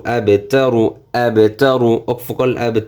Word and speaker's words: أبتر: হু ওয়ালাম জবর ওয়াল, হুয়াল, হুয়াল, হামজা বা জবর আবে, আবে, তা জবর তা, র পেশ রু, আবে তারু, আবে তারু, অকফ করলে আবে তারু। এই যে প্রথমটার মতো উচ্চারণ করলে আবেতার, অকফ মানে অকফ করলে আবেতার,